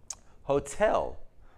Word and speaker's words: hotel: vowel dominant sounds but where's the stress on the word Hotel on number two so when the syllable the T syllable is stressed you of course want to say the T you don't want to make it a d interest well this is